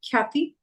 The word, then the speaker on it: Khyati: The second one, it's with the K sound, so the aspirated sound, Khyati Gupta.